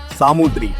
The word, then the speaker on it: Samudri: Now, you might know this ruler as the Zamorin of Calicut, but that's actually a European mispronunciation. His real title was Samudri, which literally means Lord of the Sea in Malayalam.